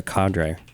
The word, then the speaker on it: cadre: Cadre right this is a Cadre is how you pronounce this Cadre Cadre accordingly I